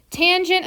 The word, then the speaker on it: tangent: divided by my radius tangent of theta not tan Theta tangent of theta